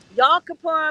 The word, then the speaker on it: Yom Kippur: Um, Yom Kippur is tomorrow.